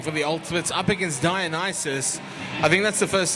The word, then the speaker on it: Dionysus: Penelope Powerpuff again jamming for the Ultimates up against Dionysus.